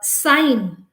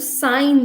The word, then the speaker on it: sign: sign i want to sign this what's what is the word that comes sine yes we all know that it is s i g n but here again the g is silent so uh champagne the